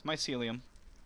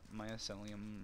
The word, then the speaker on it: mycelium: mycelium let's see mycelium okay so i've been mispronouncing it whoops it's mycelium it's not myocellum or however the hell i was saying it